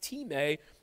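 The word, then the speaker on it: τιμή: It's spelled like the word time, but it's pronounced time, to treat something with honor.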